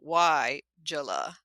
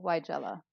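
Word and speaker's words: Weigela: capital wy- j-l so y Jala is how they're saying to pronounce it you're that that capital letter tells you that your emphasis should be on that syllable why Jella yeah and the funny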